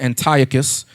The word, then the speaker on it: Antiochus: So Antiochus, or some people might pronounce it Antiochus, all right, Epiphanes, he magnified himself as God on earth, okay?